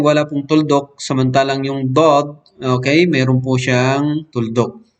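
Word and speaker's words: ض: So, ganun nabibigkas itong letrang dod, okay? Kaya nga, dod, yung mapapansin niyo pag binibigkas ko, dod, okay? Medyo na ano yung bibig ko, di ba? Kasi nga, yung dila ko, dinidikit ko doon sa itaas ng aking ngipin.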